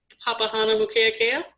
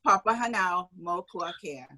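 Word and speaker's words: Papahānaumokuākea: um let you pronounce papahana mukeakea almost almost it's papa hanau multicare we almost had it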